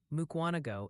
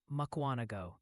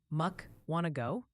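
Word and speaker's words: Mukwonago: to let you know mukano is pronounced makuano. One viewer said to think of it like you're asking a question. Muk want to go.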